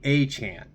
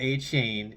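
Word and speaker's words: Achane: first couple weeks but it's it's Devin a a Chan not a chain it's a Chan uh if I am even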